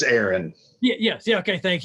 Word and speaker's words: Aaron: Or it's Aaron. I know it's spelled like Aaron, but it's Aaron.